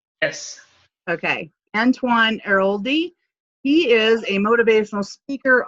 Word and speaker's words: Antoine Airoldi: And did I pronounce that right? Yes. Okay. Antoine Airoldi.